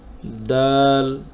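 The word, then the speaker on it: د: দাল দাল, এইটা বাংলায় যে আমরা দ উচ্চারণ করি, এই দয়ের সাথে কিছুটা মিল আছে।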